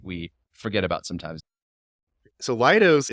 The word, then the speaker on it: Leidos: in an elevator pitch lios the company and I I remind people or to explain this the pronunciation it's the middle of the word Kaleidoscope so so that's where